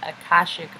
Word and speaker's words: Akashic: at incarnation it's our I so it's our Akashic I learned how to say it Akashic record so this is art our map is